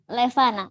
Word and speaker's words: Levana: Yeah, Levana it's or Levanya? Levana. Levana. Okay. Levana is good.